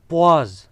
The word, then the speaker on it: poise: आप इसको ठीक प्रोनाउंस कीजिएगा, ये मैंने जो लफ्ज़ बोला इस पे गौर करें, पॉज, ठीक है, प्रॉपर लफ्ज़ है पॉज।